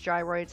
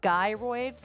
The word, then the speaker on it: gyroid: Let me know if you say it like gyroids, like as in my guy, my dude, or if you say it like gyroids, like gyrate your hips in the comments.